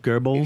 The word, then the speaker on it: Goebbels: Goebbels. Joseph Goebbels?